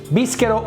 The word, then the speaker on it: Bischero: Bischero with a K, even though in Italian it's spelled with a CH, which sound K. In English it sounds Ch, but in Italy CH is K.